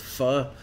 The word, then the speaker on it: pho: um fod you know like vietnamese faux or pronounce it correctly it's fu noodle soup um with